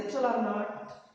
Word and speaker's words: epsilon naught: What is this epsilon naught? It has to be pronounced like this, epsilon naught.